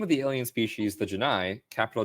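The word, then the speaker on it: J'naii: The name of the alien species, the Janai, capital J apostrophe capital N A I I is identical in pronunciation to the Janai, capital G I in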